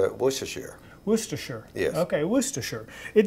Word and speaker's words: Worcestershire: this word in fact i've always called this wooster but it was just out of ignorance yeah so i'm glad you finally helped us all to know how to say this sauce well right it's a